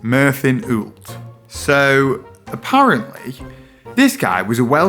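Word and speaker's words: Myrddin Wyllt: Apparently it's pronounced Merlin Ult.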